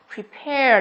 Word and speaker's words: prepare: Từ thứ hai cũng vậy, đó chính là từ C của chúng ta phát âm là prepare, đúng không? Prepare thì cũng là air.